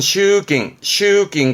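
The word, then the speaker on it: 集金: 발음은 슈깅.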